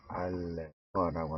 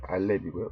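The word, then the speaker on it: אלף: 알레프라고 하는 철자인데, 이렇게 알레프라고 읽고요.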